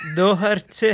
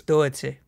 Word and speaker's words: Doherty: episode 3 and the podcast with Bradley, is pronunciations. Oh, okay. So it's Doherty. So it's it's Matt Doherty.